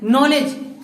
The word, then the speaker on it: knowledge: हम बात करते हैं नॉलेज, उसकी स्पेलिंग क्या है KNOWLEDGE, लेकिन उसको पढ़ते क्या है, काफ से पढ़ते हैं, सिर्फ एन पढ़ रहे हैं कि नहीं, के को छोड़ दिया है, एन को छोड़ दिया है।